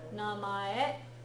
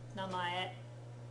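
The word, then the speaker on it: 名前: it's also Japan yeah namay means name namay even sounds a little bit like name right namay if go is five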